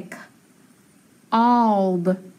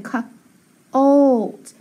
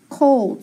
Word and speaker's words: cold: Listen, k old. It does a long O in front of the L sometimes. So now when I say it, I say k old. Cold.